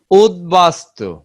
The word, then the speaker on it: উদ্বাস্তু: শব্দের মধ্যে বা শেষে দর সঙ্গে ব ফলা যুক্ত হলে ব উচ্চারণ স্বাভাবিক থাকে। শব্দের মধ্যে হোক বা শেষে হোক, দর সঙ্গে যদি ব ফলা যুক্ত হয়, সেক্ষেত্রেও বর উচ্চারণ স্বাভাবিক থাকে। যেমন উদ্বাস্তু, এই যে দেখো দ ব ফলা, ব এর উচ্চারণ কিন্তু বাহ, বাস্তু ঠিক আছে।